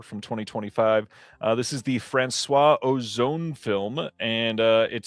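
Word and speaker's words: François: We're lucky I said Francois instead of Francois.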